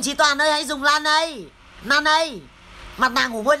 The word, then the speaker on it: Laneige: Đây là mặt nạ ngủ môi Laneige của Hàn Quốc.